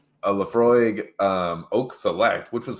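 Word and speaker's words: Laphroaig: But Leafroy Leaf, I don't know how to say it, but it's good shit. It's Leafroy.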